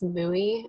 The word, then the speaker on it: mui: I will have to correct the pronunciation is mui.